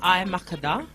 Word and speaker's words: Makeda: So my name is Amharic. So it's actually pronounced Makeda.